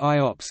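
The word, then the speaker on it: IOPS: world I ops input/output operations per second pronounced I ops a common performance measurement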